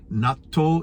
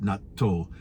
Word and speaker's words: natto: about before it's called natto in Japanese but in English I think it's just pronounced Nat but since my wife is Japanese we always call it NATO but whatever you call